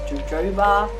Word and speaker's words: jojoba: And then there's jojoba, or you may pronounce it as jojoba, beginning with a J.